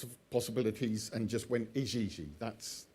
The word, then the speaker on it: Igigi: Just as a little aside, the Ijiji, they're spelt I-G-I-G-I. Yeah. And I immediately I don't know why, I kind of eliminated all sorts of possibilities and just went Ijiji. That's how that should be pronounced.